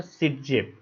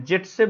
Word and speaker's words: Zaitsev: इनका जो सिटजेफ नाम है उसका प्रोनाउंसिएशन जो है जेटसेफ भी होता है, क्योंकि ये रशियन है, ये जो टर्म है वो रशियन टर्म है, तो इसको सिटजेफ और जेटसेफ दोनों नाम से जाना जाता है।